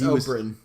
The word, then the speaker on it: Oberyn: So when Oberyn Martell, and correct me because I'm no good at these names, so if I'm saying it wrong, okay, It's Oberyn.